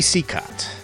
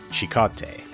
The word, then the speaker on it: Cicotte: would presumably be pronounced Cicotte. But actually it's of French origin and would be pronounced Cicotte in French.